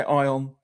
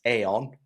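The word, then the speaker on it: Aion: Some people say Ion, some people say Aeon, right? We know it's Aeon though.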